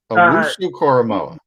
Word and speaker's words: Owusu-Koramoah: setup is, I call him JOK because I butchered his name. Love him. Yeah. Jeremiah Owusu-Koramoah. Yeah. Koramoah, excuse me. Koramoah. Owusu-Koramoah.